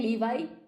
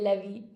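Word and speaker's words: Levi's: And I said, oh, God, no, we don't say Levy. You cannot say Levy genes. And he was totally traumatized. I was like, no, nobody says Levy, it's Levi, Levi genes.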